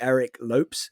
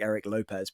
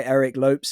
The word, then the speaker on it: Eric Lopes: I guess somebody else I would really love to talk with would be Eric Lopes, I think is how it's pronounced, but I always think it looks like Eric Lopez, but Eric Lopes.